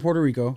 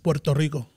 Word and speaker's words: Puerto Rico: I was born in Puerto Rico okay um moved over here you said it wrong Puerto Rico Puerto Rico my bad born in